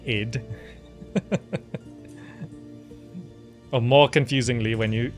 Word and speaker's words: id: So sometimes you just have to say ID Software, even though it's pronounced id.